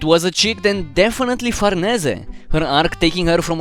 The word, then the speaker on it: Farnese: whether to call her fernasi or farnese i came to the conclusion that farnese is the best way to spell it because it's the actual italian pronunciation and also our name